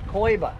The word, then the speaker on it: Coiba: Coiba.